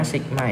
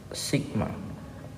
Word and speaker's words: sigma: rumus f = Sigma getaran ini bacanya signa Ya ini dibaca Sigma hai hai hai yo